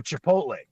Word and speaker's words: Chipotle: Is that how you pronounce it? Chipotle? What is it? Oh, Chipotle. Chipotle, exactly.